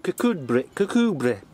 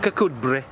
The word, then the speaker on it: Kirkcudbright: And now we're off on to Kirkcudbright.